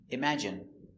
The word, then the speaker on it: imagine: Let's take a closer look at the pronunciation. Pronunciation, imagine. i m im a ima j j strong sound j j j image i imagine n imagine Imagine, stress on the second syllable, imagine.